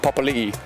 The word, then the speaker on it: Papalii: Some people say Papalii, Papalii, Papalii, Papalii. I get a lot of weird ones, but it's Papalii.